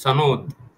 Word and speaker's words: সনদ: লক্ষ্য করেন, আলী রিয়াজ বলছেন যে এই সনদ, লক্ষ্য করেন সনদ না কিন্তু নতুন উচ্চারণ হয়েছে, আবার এটা খেয়াল রাখেন, সনদ, সনদ। এখানে কিন্তু মাখরাজটা ঠিক রাখতে হবে।